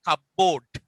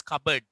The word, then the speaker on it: cupboard: Cupboard. T is silent. Now we never say cupboard. That is cupboard.